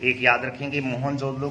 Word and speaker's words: मोहनजोदड़ो: तो एक याद रखेंगे, मोहनजोदड़ो का जो एक प्रकार से शाब्दिक अर्थ है उसका मतलब रहता है मुर्दों का टिल्ला। मुवन जो दड़ो इसका जो है सही उच्चारण होता है मुवन जो दड़ो, अर्थात मृतकों का या